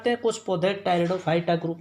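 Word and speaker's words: Pteridophyta: और जो तीसरा ग्रुप है उसको कहते हैं भाई टेरिडोफाइटा। क्या कहते हैं? टेरिडोफाइटा। पी साइलेंट है इसमें, टेरिडोफाइटा बोला जाता है, TERIDOPHYTA, टेरिडोफाइटा।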